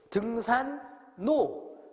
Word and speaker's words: 등산로: 생산 다음에 량인데 생산하고 량이 끊어진다고 생각할 수 있으니까 여기는 모두 리을이 니은으로 바꿔가지고 등산로, 생산량 이렇게 발음돼야 되는 거예요.